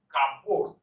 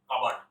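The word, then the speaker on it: cupboard: এর উচ্চারণ আপনি যদি করেন কাপবোর্ড, সিইউপি কাপ আর বিওএআরটি বোর্ড, তাহলে কিন্তু ভুল হবে। এর উচ্চারণ হবে কাবার্ড। কাবার্ড, কাবার্ড। বাটটা উচ্চারণ আসবে না।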